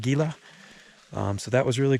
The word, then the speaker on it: Gila: did confirm that indeed it's pronounced gila not gila um so that was